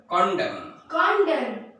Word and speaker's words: condemn: Next, if a word ends with MN, N is silent as very important words.